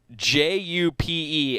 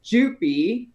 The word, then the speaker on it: Jupe: the correct pronunciation is jupi the e is not silent i am so